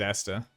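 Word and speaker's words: Aesther: do anything to protect that's fantastic it is Esther I know how you pronounce that a-a-e-s-t-h-e-r yes there we go excellent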